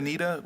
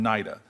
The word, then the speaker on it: NIDA: to start with the with nid am I pronouncing as naida Nita what what naida I want to start with naida um they've